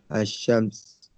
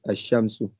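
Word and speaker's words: الشمس: When al is prefixed to a noun beginning with a solar letter, the lam of al is assimilated to the solar letter, e.g. Ashams, the sun. Okay, Ashams is pronounced as Ashamsu.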